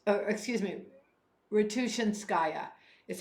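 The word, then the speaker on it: Ratushinskaya: gray gray is the color of Hope arena roua skaya is how it's excuse me ruian skaya is how it's pronounced gray is the color of Hope and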